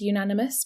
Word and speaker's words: unanimous: So you use the article a uh with unanimous because unanimous starts with a y sound. So even though it's a vow, the sound is a consonant.